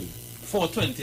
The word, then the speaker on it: 420: 420, I know that's okay, give me the article. Cancel, for sure. Mm-hmm. Right. So this 420, cannabis culture, right? Mm-hmm. 420, pronounced 4, the counting only 4-20, right?